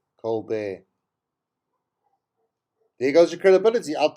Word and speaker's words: Colbert: over two years ago she pronounced the one late night uh talk show host colbert cole burt stephen colbert instead of colbert colbert there goes your credibility